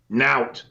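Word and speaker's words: nowt: This word has entered the mainstream to mean nothing, and it's spelled N-O-W-T. Nout. It's a Yorkshire word.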